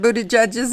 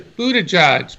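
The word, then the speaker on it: Buttigieg: Budaj who's really ahead is that how you pronounce mr. Buddha judges name or how do you say I say it is Buddha judge Pete Buddha judge and I listen to a lot of people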